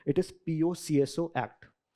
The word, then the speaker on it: POCSO: A lot of people pronounce this as POSCO, but this is not correct. It is POCSO Act, right?